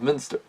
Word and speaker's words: Munster: during the area of Munster. Or Munster, whichever way you want to pronounce it as, either way.